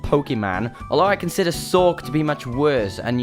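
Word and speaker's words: Sawk: that way only because it's meant to be a corruption of the word sock as in punch I'm British so the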